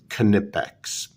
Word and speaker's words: Knipex: XS water pump pliers made by knipex yes that's how the company wants Americans to pronounce their name made in Germany and